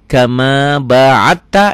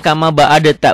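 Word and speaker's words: كما باعدت: baini wa Baina khotaya Kama ba'atta ini tuh ini kalau enggak enggak belajar tajwid bacanya Kama baadta bukan ini diidqamkan ke sini Kama baatta bainal masyriqi Wal maghrib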